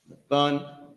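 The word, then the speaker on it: נתן: Nathun is how you pronounce it.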